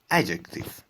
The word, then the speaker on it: adjective: در مورد adjective به معنی صفت و به این صورت هم تلفظ میشه adjective، یعنی اون دش عملا تلفظ نمیشه.